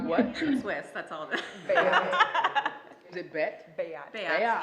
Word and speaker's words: Beat: It's pronounced what? Swiss, that's all. Bayat.